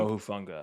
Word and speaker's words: Hufanga: Hufanga. Hufanga.